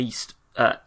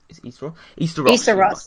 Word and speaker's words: Easter Ross: in Caithness, Sutherland and East Ross? Easter Ross. Yeah, Easter Ross.